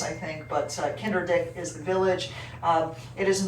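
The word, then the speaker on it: Kinderdijk: the uh village of kinder dick uh that's how you pronounce that i don't know why they put the j in just to fool us i think but kinder dick is the village it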